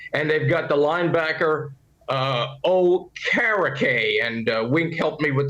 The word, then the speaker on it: Okereke: And they've got the linebacker Okereke, and Wink helped me with the pronunciation. He told me just say it as O-Carrot Cake.